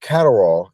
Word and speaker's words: Catterall: he beat Jack catell Jack catall is how you pronounce his last name catall in his backyard